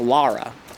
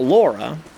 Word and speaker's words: Lara: laurie i say lori but technically it's lara her name is lara not laura laura is something else her name is laura lara croft already played blasphemous